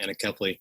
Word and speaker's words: anencephaly: Our child died of a condition called anencephaly, or some pronounce it anencephaly, condition where the brain or skull never truly forms.